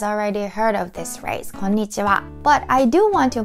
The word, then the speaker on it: こんにちは: out about pronunciation, because many of you guys say it konnichiwa, emphasis on ni for some reason, like konnichiwa. But Japanese has like same tempo. There are 5 syllables.